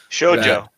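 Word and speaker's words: 少女: Shoujo. Shoujo. Yes. Is it pronounced with a j sound at the beginning of it?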